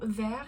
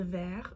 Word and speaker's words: verre: Faites attention, les mots “verre” et “vert” ont la même prononciation, mais les sens sont totalement différents.